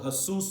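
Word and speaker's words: Jesús: अपना नाम हस English Spanish में जो के साइलेंट होता तो वो एसुस बोलते हैं तो जीसस क्योंकि इंग्लिश में जैसे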